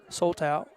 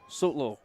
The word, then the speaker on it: Sotlo: Soto. Kenny, how was it? How's it pronounced? Sotlo. Okay. That's what they told.